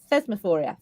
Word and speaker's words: Thesmophoria: most about um the oh let's get the pronunciation here right phosphoria phosphoria thesmophoria thesmophoria um is it was the only Festival